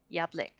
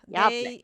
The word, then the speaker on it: Yablik: Yablink. Yeah, blink. I say blink, but I know there's no N in there. Okay. I don't know. It's just the way I've always pronounced it. Yeah. Yablik.